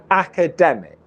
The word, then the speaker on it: academic: academic academic academic okay can you hear that the uh weak syllable is ka akka akka akka it's actually uh the just the schwa sound but we release the k at the beginning of the next syllable so it might be